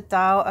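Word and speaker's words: Tao: am an acupuncturist healer and teacher of the dao academy you can find out more about me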